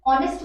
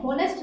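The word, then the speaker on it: honest: ऑनेस्ट में देखें यहाँ पर एच साइलेंट होता है, हमें ओ से पढ़ते हुए ऑनेस्ट बोलते हैं, होनेस्ट नहीं होता।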